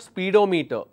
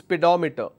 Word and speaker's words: pedometer: prodigy meter speedometer one is missing here it's pronounced s pedometer it's not speedometer now you will understand why it's not speedometer its pedometer Gy I'm going to give you a fairly